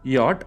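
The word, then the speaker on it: Jot: And J is yacht. I am underlining the Y here. J ന്റെ pronunciation yacht ആണ്, ശ്രദ്ധിച്ചോ. J will be yacht.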